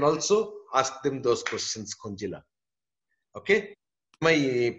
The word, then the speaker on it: Kunjila: ask them those questions, Kunjila. Okay? Am I pronouncing your name properly? You have to switch on your mic. Yeah, I'm muted. Now you can hear me? Yeah. The J is silent.